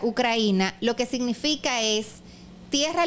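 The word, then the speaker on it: Украина: Y de hecho, la palabra Ucrania, que en ruso se pronuncia Ucraina, lo que significa es tierra limítrofe, el borde.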